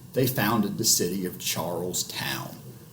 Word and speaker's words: Charles Town: founded the city of charles town which would be pronounced and typically treated as two separate words throughout the 16 and 1700s only eventually transforming into charleston many of these settlers